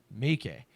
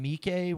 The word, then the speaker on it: Meike: It looks like Meike. They say it very quickly. Meike. So I was saying Mike when I was reading the story, but that is incorrect.